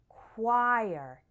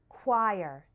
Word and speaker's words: choir: one is tricky because the CH sounds like a K and the O sounds more like a u so all together it's like choir it rhymes with fire choir next we have an